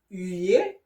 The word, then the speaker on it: huer: And the sound H-U, you, like in the word humain, which means human. Okay? or in the verb huer, which means to boo on someone, okay?